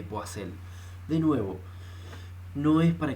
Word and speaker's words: Poiseuille: Lo pronuncian de diferentes formas, pero yo le digo ley de Poiseuille.